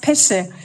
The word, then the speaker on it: Pesce: The next dialogue will be between Javier González Pesce, as I was told by my colleagues here that it's an Italian name, right? So it's pronounced Pesce, because I thought I learned a little bit of Spanish and I thought how to pronounce it.